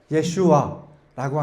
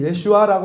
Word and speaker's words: 예슈아: 그리고 여호수아라고 한글 성경에서 여호수아라고 기록되어 있는 이 이름은 히브리어로 발음을 해본다면 예호슈아라고 이렇게 발음을 할 수 있습니다. 근데 예수님 당시에는 이 예호슈아라고 하는 이 이름 대신에 단축형인 예슈아라고 하는 그 이름으로 그 당시에는 불렸다고 합니다.